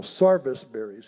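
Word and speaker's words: serviceberry: us first we had what they call sarvis berries here in the ozarks service berry is how it's spelled then came the red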